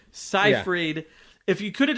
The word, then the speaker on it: Seyfried: Keep saying her name wrong. Seyfried. I keep thinking Siegfried and Roy. Seyfried.